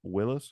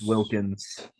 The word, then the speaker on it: Wilkins: me Michael Jordan okay Dominic Willis is not how you say it yeah Dominic Willis and then Julia it's Wilkins Wilkins oh it's Wilkins uh